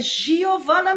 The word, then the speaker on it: Giovanna: que você me diga como é que se pronuncia seu nome que eu nem ousei experimentar falar para não errar Oi Giovana mesmo jeito sobrenome A tá então é isso